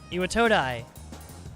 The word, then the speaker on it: Iwatodai: Iwatodai. That's how you pronounce it.